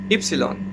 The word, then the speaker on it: ipsilon: was a letter that in english they call vi in the schools you used to call it egreg or in some places egreg and now here you have to call it hypsilon comes from greek so yeah x ipsilon